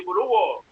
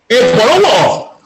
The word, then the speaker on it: Ebolowa: Tu prononces mal là, Robert. Ce n'est pas Ebolova, c'est Ebolowo. Ebolowo.